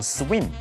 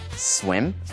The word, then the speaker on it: swim: 这样子一个用法。接下来我们来学 swimming，动词是 swim，所以有一点的声音哈，那个短母音不要念成 swim，要念 swim。swimming，三态的变化是 swim、swim、swum。SWIM, SWAM, SWUM. Swim, swim, swum.